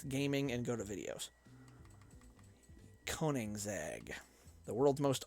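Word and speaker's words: Koenigsegg: do to end gaming and go to videos koningzag the world's most unpronounceable car name k-o-e-n-i-g-s-e-g-g koning's egg is a swedish car company that is known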